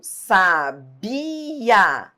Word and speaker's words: sabia: Sem acento, sabia.